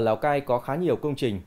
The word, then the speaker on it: Lào Cai: nghĩa là phố cổ, phát âm tiếng giấy và quan thoại là Lào Cái, người Pháp phiên âm là Lao Cay. Người Việt đôi khi phát âm là Lao Cai, nhưng phổ biến nhất là Lào Cai.